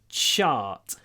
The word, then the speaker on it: chart: of diagram a chart remember English cha it's more like Russian more like Russian i t then Russian chart chart on page 42 so try to make the sh a bit longer chart chart look at the